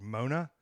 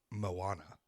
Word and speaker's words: Moana: out for us because I thought the movie was called Mona for a long time it's not how you say it Moana did you see um